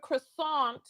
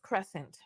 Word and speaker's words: croissant: carb filled icing cover croissant who the person she calls her daddy which is her husband was telling her that the proper way to pronounce it was Crescent friend thing is a